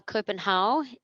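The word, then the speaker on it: København: so over in uh copenhau if you're Danish that's how you pronounce it uh in Copenhagen that's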